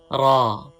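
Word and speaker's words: ر: Raw has full sound. Do not pronounce raw with thin sound. While pronouncing raised tongue toward the pallet. You can pronounce raw with full sound.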